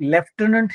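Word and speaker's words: lieutenant: आता लेफ्टनंट मध्ये फ दिसतो आहे म्हणून मुलं काय करतात? एक तर एफ लिहितात किंवा पीएच लिहितात. पण याच्यामधल एकही स्पेलिंग बरोबर नाही लेफ्टन स्पेलिंग जर पाहिलं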